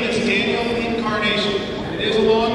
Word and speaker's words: Encarnacion: for more Republican party my name is Daniel Incarnation it is a long name it's the one